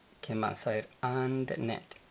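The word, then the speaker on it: አንድነት: A, N, la N no lleva pronunciación en el vocal, La D de doctor tampoco. Entonces, AND. And. Y luego NE. Y finaliza con una T, la cual no lleva pronunciación en el vocal. Entonces es AndNet.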